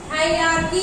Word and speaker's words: hierarchy: अब देखिए हायरार्की, हेयरार्की, कुछ भी आप देखेंगे, कई लोग कई प्रोनाउंसिएशन करते हैं, इसका मीन्स होता है वंशानुगत या वंशानुगत शासन।